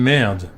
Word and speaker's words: merde: How are we pronouncing merd when we're mixing it with English? You should say merde.